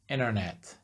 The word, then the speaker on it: internet: So like in American English, they drop the T completely. For instance, internet, they would say internet.